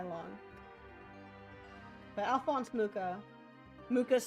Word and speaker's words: Mucha: Mucha's spelled like matcha. It's Mucha.